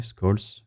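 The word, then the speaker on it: Black–Scholes: Donc c'est un peu ce qu'on appelle le modèle black shrolls, ça dépend comment vous le prononcez, scols.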